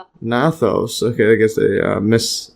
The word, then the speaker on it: gnathos: The term derives from Greek uh gnathos or nathos. See this nathos. Okay, I guess they miss they don't pronounce the G which means jaw and sto meaning mouth.